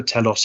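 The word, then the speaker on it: Talos: TS by the way T AOS there's different pronunciations for this but Cisco Telos is Cisco's official uh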